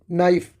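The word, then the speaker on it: knife: नाइफ। यहां पे के साइलेंट है।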